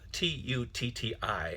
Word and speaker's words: tutti: It's spelled T-U-T-T-I, and it's pronounced tutti.